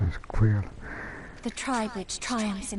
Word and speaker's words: Xaela: All Xaela, okay, it's pronounced as Xaela.